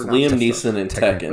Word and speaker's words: Tekken: I learned today that technically Tekken is pronounced Tekken. Like Tekken. I've never heard an English user double the K like that though.